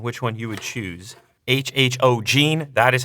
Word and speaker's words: HHOGene: HHOGene, that is how you pronounce the company name.